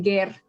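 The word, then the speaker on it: גר: No aquí la palabra ger o ger se pronuncia ger se refiere a a una persona que no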